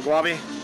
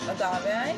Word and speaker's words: agave: around here that's the guave Agave Agave I said it wrong triple triple there